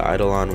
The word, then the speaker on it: Eidolon: I think we haven't killed the EIDOLON worm, that's how you pronounce it, both the both the juvenile version and the adult version, we both have not killed.